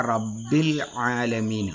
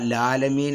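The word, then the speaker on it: رَبِّ الْعَالَمِينَ: ഉച്ചാരണം കൃത്യമായിട്ട് നമ്മൾ ശ്രദ്ധിക്കണം അതുപോലെതന്നെ റബ്ബിൽ ആലമീൻ റബ്ബിൽ ആലമീൻ എന്ന് തന്നെ ഓതണം റബ്ബിൽ എന്ന് ആ ലാം ഉച്ചരിച്ചിട്ട് പിന്നെ ഐൻ ഉച്ചരിക്കണം റബ്ബിൽ ആലമീൻ എന്ന് ഓതുമ്പോൾ റബ്ബിൽ ആലമീൻ ലാലമീൻ എന്ന രീതിയിലേക്ക് എന്ത് ചെയ്യും അത് വരും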